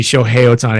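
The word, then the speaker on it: Shohei Ohtani: phil nevin push ohio tell me excuse me show hey otani i've been mispronouncing that like they're not gonna let him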